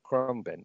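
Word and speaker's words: Khruangbin: How do you pronounce the band again, Darren? Krumbin.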